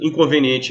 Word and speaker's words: Inconveniente: a letra A beleza Inconveniente é um adjetivo beleza é uma palavra paroxítona Por que que é paroxítona porque a penúltima sílaba em é sílaba tônica Inconveniente a sílaba tônica